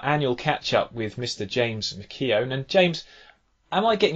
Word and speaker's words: McKeown: To be fair, I don't know if my granddad was drunk or whatever, but it's a bad pronunciation of the spelling, but he's meant to be McKeown, so I'm told.